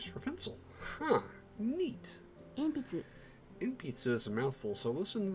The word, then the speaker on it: 鉛筆: 鉛筆 Inpitsu. Huh. Inpitsu. Inpitsu is Japanese for pencil. Huh. Neat. 鉛筆 Inpitsu is a mouthful, so listen to the pronunciation a few times and practice saying it slowly.